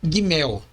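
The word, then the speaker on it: גימל: Contudo, a pronúncia correta é gimel, com o G duro, como na palavra gato.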